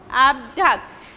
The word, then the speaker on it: abduct: That is why this syllable will be an instance, abduct.